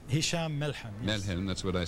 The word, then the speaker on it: Hisham Melhem: First of all, am I pronouncing your name both correctly? Hisham Melhem.